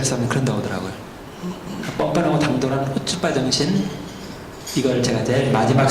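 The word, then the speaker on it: chutzpah: 앞에 C를 발음하지 마세요. C를. 그러면 이제 발음이 좀 쉬워지죠? 후츠바.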